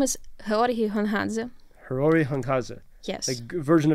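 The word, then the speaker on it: Георгій Гонгадзе: I don't want to mispronounce his name. His name is Hrori Hunghadze.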